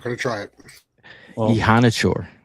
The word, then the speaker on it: Iheanachor: Ihanachor, Max Ihanachor. Okay, it's spelled Iheanachor.